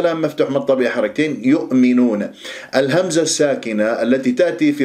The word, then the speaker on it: يؤمنون: يؤمنون، المقطع الأول مينون مقطع الثاني، ولا تسحب ضمة الياء إلى الهمزة تقول يؤ، يعني تنطق الهمزة وأنت شفاه مضمومة متأثرة بضمة الياء.